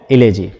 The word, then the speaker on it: elegy: आज के इस वीडियो में हम लोग जिस टॉपिक के बारे में चर्चा करेंगे वो है इलेजी। हालांकि इसे इलेजी कहते हैं लेकिन इसका प्रोनाउंसिएशन है इलोजी।